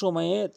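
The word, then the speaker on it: ثاء: সা জিহ্বার আগা দাঁতের আগার সঙ্গে মিলিত করে ৩টি হরফ উচ্চারণ করতে হয়।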